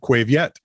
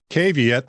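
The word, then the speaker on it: Quê Việt: yeah q-u-e okay and i was pronouncing it quave yet and my daughter joanne who speaks vietnamese looks at me and says cave yet this isn't spanish idiot nicely said young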